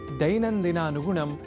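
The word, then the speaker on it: दैनन्दिनानुगुणम्: प्रत्यक्षतः भवतः परोक्षतः च संस्कृतं सेवमानः अहमस्मि आगतः दैनन्दिनानुगुणं नारायणदत्तमिश्रः। आपने ध्यान दिया होगा कि दैनन्दिनानुगुणम बोलने के क्रम में मैंने ऐ इस अक्षर का विशेष रूप से उच्चारण किया है, क्योंकि संस्कृत में अक्षरों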